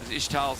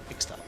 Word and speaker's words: Ixtal: in that case, and Ishtal's impact, or Ixtal, or whatever country, I don't know how to say it, that got. Ixtal? Is it Ixtal or Ishtal? Ixtal. Ixtal, thank you so much.